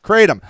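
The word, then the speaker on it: kratom: in shots pills and Powers but it's called pronounced katom I have heard of this stuff um and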